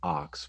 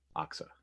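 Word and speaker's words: OXE: at the marine industry I thought it was gonna be pronounced ox but then when I see their videos it's ox or ox a Aqsa right Aqsa and that's a diesel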